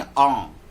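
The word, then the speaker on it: ङ: या और वही जैसे कंठ से अंग लोग जो बोल देते हैं, अंग नहीं आंग, है ना, आंग, यानी कंठ से बोलेंगे और नाक उसमें शामिल कर देंगे।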